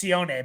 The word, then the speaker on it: Sione: Sione, it's Sione, by the way. I just found the pronunciation guide.